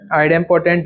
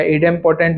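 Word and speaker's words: idempotent: आइडेम्पोटेंट लॉ या इडेम्पोटेंट लॉ, जो भी जैसा प्रोनाउंस करते हैं।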